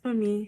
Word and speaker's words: Funmi: The n is silent if you're an English person person saying it, but as a Yoruba person it's actually just at the back of your throat.